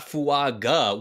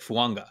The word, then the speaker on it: Fuaga: his name he's like fanga like there's the n in there you got to throw the n in there so the AG in